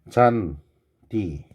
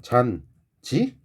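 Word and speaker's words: 잔디: 근데 참고로 잔, 디. 이 디인데 니네 발음 얘 어떻게 하냐? 잔지? 누가 이렇게 병신같이 발음을 하냐? 잔지라고 하면 안 돼. 얘는 원래 D이기 때문에 원래 있는 그대로 D라고 발음을 해야지 G라고 발음하면 안 돼요.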